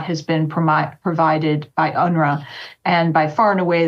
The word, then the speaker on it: UNRWA: relief Works agency or unra as that nasty acronym is pronounced was the spoke created